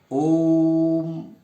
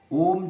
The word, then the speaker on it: ओम: प्लुत स्वर कहते उसका नाम है प्लुत जैसे ओम ओम जो होता है ओ और म के बीच